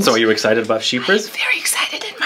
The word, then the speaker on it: Chypre: Chypre, pronounced sheep. Chypre. Ra.